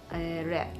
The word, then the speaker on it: wrap: wrap, W-R-A-P. Now we are done with the silent letters.